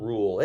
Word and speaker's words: RUEHL: This is a cool RUEHL. It rhymes with cool.